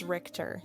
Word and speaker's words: Richter: real quick is it is it rich is it Richter or Rich Richter pretty sure let's see how do we Richter it's Richter all right oh because